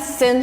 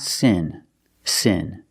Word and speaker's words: seen: since my mom's birthday the pronunciation of the word is not Sin Sin we have to use the long e sound and say sin seen so let's look at the difference the first word is sin with the short I sound like this is sin and the second word is seen with a long e sound like green beans scen first let's talk about